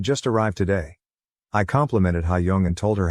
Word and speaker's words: Hayoung: Yesterday after school, Hayoung, pronounced Hayoung, came up to me and my wife and showed me her school pictures, both her individual photo and her group grade photo.